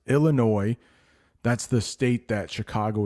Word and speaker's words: Illinois: yeah I know Illinois I know there's an S but it's pronounced Illinois that's the state that